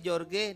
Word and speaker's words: Jorge: heho Mari kita berlalu Emang tulisannya Jorge dibacanya Hore He iya betul Oh